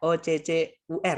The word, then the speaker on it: occur: Tulisannya OCCUR ya, itu bacanya occur, teman-teman. Jadi U-nya dibaca E, kayak di kura-kura, turtle.